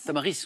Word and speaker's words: tamaris: Le tamari, on prononce le S ou pas? Tamaris? Tamaris. Tamaris, on prononce.